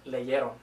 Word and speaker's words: leyeron: This only affects the spelling, and they're pronounced the same way. They're still pronounced leyó and leyeron.